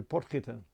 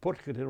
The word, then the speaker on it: Potgieter: So I've now found one to Bouwmeester, there's another one to Oosthuizen, and another one to Potgieter. And the interesting thing with Potgieter, although it's a very ornate carving, and a beautiful one in fact, they've actually spelt his name incorrectly.